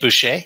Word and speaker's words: Boucher: That's the way it's pronounced. Okay, cool. Big Kate Adam Boucher. Sandler. Kate Boucher.